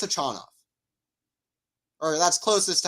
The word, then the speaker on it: Khachanov: on the ATP website I always said hochinoff I looked it up on the ATP website I think it's a China correct me if I'm